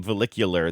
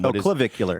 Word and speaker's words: Clavicular: Follicular. That's not his name. Clavicular. Clavicular. I noticed that on second,